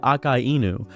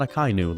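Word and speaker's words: Akainu: As a matter of fact, I'm going to say Akai Enu. That's why I say it correctly, not a Kynu. Learn how to pronounce names correctly.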